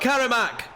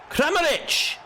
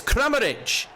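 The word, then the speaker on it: Kramarić: Not Karamak. Kramaric. Getting his name wrong again. Yorkie getting his name wrong again. It's Kramaric. Kramaric.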